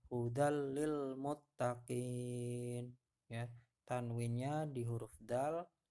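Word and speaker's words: هُدًى لِّلْمُتَّقِينَ: biar gampang hafalnya ya kita coba doa-doa praktek membacanya dari contoh di bawah ini ya hudallilmuttaqin hudallilmuttaqin ya tanwinnya di huruf Dal masuk ke dalam huruf lam tidak perlu didengungkan hanya dileburkan saja ya hudallilmuttaqin nya tanwin bertemu huruf lam lainnya Ini contohnya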